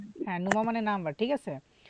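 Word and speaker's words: Nummer: উচ্চারণ হবে না আর উচ্চারণ হবে না কে বলল সে কিন্তু সঠিক বলছে আর উচ্চারণ হবে না তখন হবে মানে নুমা মানে নাম্বার ঠিক আছে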